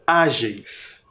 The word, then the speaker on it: ágeis: Ágeis. São 2 sílabas apenas. Uma sílaba, a última sílaba, ela é maior. Ela tem 4 letras. Geis. E a penúltima é o a. Ágeis. Qual é a sílaba tônica? Ágeis.